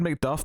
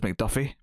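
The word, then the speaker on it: Macduff: guy mcduff although i they always said mcduff but after the first time i heard it my head just decided it was mcduffie i did a extra syllable on there why i don't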